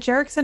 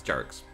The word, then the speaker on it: Jarek: Is it Jerickson or Jerix? It's Jarek's.